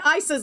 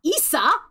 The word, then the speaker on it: Isa: someone an apology because apparently I've been pronouncing isa's name wrong it's Isa not Issa I has been CED